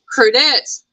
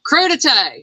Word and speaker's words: crudité: Crudité. Anita says it's crudité.